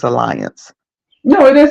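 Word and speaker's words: Allianz: the third party vendors they use I'm probably pronouncing it wrong but I think it's Alliance no it is Alliance you're saying it correctly I know about that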